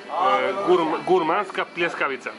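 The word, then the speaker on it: Gurmanska pljeskavica: The Gramanska Polizzikapa. However you pronounce it. Yep, I'm happy. I'm happy. I'm happy. And how do you say this one again? Gurmanska. In this part? Gurmanska Pleskavica.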